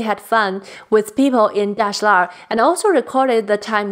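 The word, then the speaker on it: Dashilar: Mayor lived in one of the oldest neighborhoods in Beijing called Dashlar, which in this book they chose to go with the pronunciation of Dajalar, which is a common mistake about the pronunciation of that neighborhood that I think they need to change.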